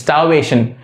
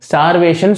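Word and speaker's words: starvation: ஸ்டார்வேஷன் ஸ்டார்வேஷன் சொல்லலாம், பட் அது எக்ஸாக்டா எப்படி ப்ரொனவுன்ஸ் பண்ணும், ஸ்டார்வேஷன். ஆரை கொஞ்சம் சைலண்ட் ஆகிப்போம். ஸ்டார்வேஷன்.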